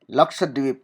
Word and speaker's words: लक्षद्वीप: LAKSH, ल छ जो है उसको हम इस तरह से पढ़ेंगे KSH, और A आएगा क्योंकि लक्षद्वीप, DWEEP, द्वीप, ठीक है, तो इसकी स्पेलिंग ये बनेगी, लक्षद्वीप।